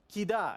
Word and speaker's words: Kida: So based on the sonority hierarchy of the vowels, who has a guess how you would pronounce this word? Okay, here in the front. Kida, exactly. Perfect. And that's because an A is always going to be stronger than an I, unless they've marked it